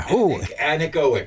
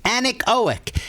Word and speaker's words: anechoic: A voice in my head told me that there's an anechoic chamber. Anechoic. Anechoic. It's like from an anecdote, but pronounced a little differently.